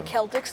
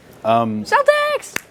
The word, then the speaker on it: Celtics: I called them the Celtics the other day, and people just started beating me up. I was like, Celtics, what are you talking about? That's the original pronunciation, right?